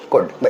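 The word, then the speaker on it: could: एल बोलते नहीं उसमें, CUD ऐसे बोल के देखो, CUD को बोलो कुड ऐसी।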